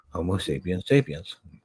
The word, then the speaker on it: Homo sapiens sapiens: and ended up creating Homo sapiens sapiens, which is the correct way to say that, by the way.